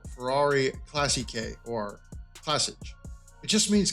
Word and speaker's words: classici: And if you add an S onto the English word, which is now classics, we're making it plural, it's pronounced Classiche.